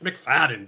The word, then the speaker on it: McFadden: It's McFadden, dude.